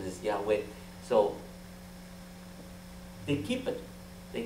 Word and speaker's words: Yahweh: not you go back is the real pronunciation pronunciation is Yahweh so they keep it they kick that word